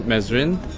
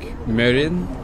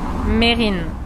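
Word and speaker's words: Mesrine: Mérine. Mérine, but there is an S in there. There is an S in there. But And he explains in the film that you shouldn't pronounce the S, like the metro station called Miroménil.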